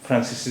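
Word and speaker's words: français: लेकिन जब इसके नीचे सी के नीचे ये निशान है। यानी से दिल है।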